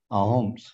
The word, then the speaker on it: Ahoms: see the sh themselves they could not pronounce the word s they pronounced it instead as H which meant that OS became ah when they said it the suas people came to be known as the aoms amongst the local people it is also surmised